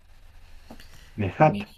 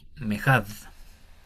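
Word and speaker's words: מֵאֶחָד: Mejat. Mejad, con D al final.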